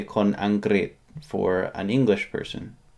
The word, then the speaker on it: อังกฤษ: However, it's pronounced America. อเมริกา Or if you say it fast, America. For England, Angrit.